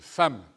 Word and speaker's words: femmes: f2m eux se prononcent femmes et petit garçon dubé il n'y a pas de adam femmes bien vu c'est exact dit le professeur mais c'est comme ça le e de femmes se prononce à les petits garçons se